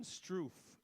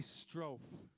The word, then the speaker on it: Strofe: And I'm going to thank Damon Stroof, okay? Now hold it. That's how I've been pronouncing his name the last 3 weeks. It's really Strofe.